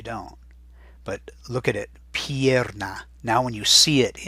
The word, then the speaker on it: pierna: Now when you see it and hear me saying it, la pierna, you can see where all the sounds are coming from. P-I, E, P-A, and then an R is always tough to hear.